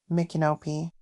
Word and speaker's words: Micanopy: Micanopy, and yes, I am pronouncing it correctly, is a very quaint and charming town that boasts of its rich history and antiques.